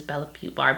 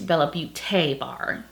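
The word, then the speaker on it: Bella Beauté Bar: It's ingrained in my head that this is that this is Bella Bar, but it's Bella Buté Bar. So, I'm going to try to remember to say that going forward. I've been saying it wrong this whole time.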